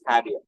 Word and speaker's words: Javier: u n n a it is written as Javier it is pronounced as Havier he was I'm not